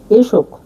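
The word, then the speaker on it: esok: ই এর মালে ভাষায় উচ্চারণ হবে এ এর মত উদাহরণ দিচ্ছি দেখুন এশোক এশোক এশোক মানে আগামীকাল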